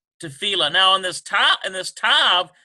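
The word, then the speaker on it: תפילה: Tefillah. Tefillah. And so T-E-F-I-L-L-A-H, tefillah. There it is. It's in the lamed, dagesh forte, tefillah.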